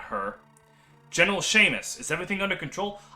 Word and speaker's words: Seamus: General Seamus, is everything under control? I fucking hate the name Seamus, because that's how you pronounce it, but there's no H in it, but it makes that sound.